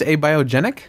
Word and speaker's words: abiogenic: million times aogen genic is it it's just abiogenic yes a biogenic I did it right AO genetic a biogenetic